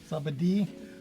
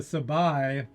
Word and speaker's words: Sabadi: The sabai is actually the sabadi. That's how it's pronounced.